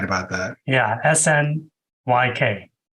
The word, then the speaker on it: Snyk: okay sneak oh sorry I think it's pronounced sneak you're probably right that sounds more I've been pronouncing it Snick in my head yeah that's right probably right about that yeah snyk right yeah uh and